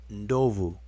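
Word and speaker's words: ndovu: here to the formu y'all hear me say it and you see it spelled noov it's spelled n d o vu but guess what these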